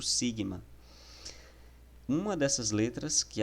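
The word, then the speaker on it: σίγμα: e o som e a pronúncia dela é como se fosse um S em português mesmo, é exemplo disso na palavra saúde.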